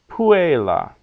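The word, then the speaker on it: puella: is long Regina pecunia but Agricola puela because in those cases the second last syllable is short so Agricola puela okay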